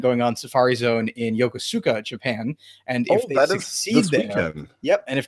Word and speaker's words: Yokosuka: catch a Pokemon as AI was it called Yosuke or something like that part I it was Yokosuka Yokosuka okay I just strung four syllables and